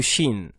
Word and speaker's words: ش: Nous allons parler de la lettre Shin, harfu Shin. Alors harfu Shin, eh bien, s'écrit de la même manière que harfu Sin, avec 3 points au-dessus. Et ça nous fait le son sh.